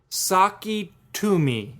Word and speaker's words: Sakitumi: It's called the Saketumi, and it's spelled Sakitumi. So. Well, you're like, what? That doesn't sound like Saketumi.